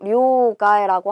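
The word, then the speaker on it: 両替: 그런데 요거 둘 양자는 료라고 읽고요. 얘는 원래 카에르라는 동사예요. 바꾸다, 교체하다인데 명사로 사용할 때 루를 빼주고요. 그리고 앞에 단어가 나오고 뒤에 단어에 탁은 붙어서 료가에 요렇게 읽게 된다.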